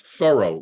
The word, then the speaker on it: Thoreau: name right it's it's thorough like thorough like Furrow your brow or plow a field and you have a Furrow in the field when you plow it Henry David Thoreau that's the correct pronunciation